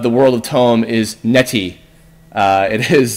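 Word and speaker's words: Netti: the currency of the world of Tome is Neti. It is spelled N-E-T-T-I.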